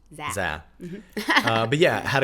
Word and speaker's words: Zé: So, when we first saw his name, we thought it was Zé. Cuz it's Z E. Yeah. But it's pronounced Zé.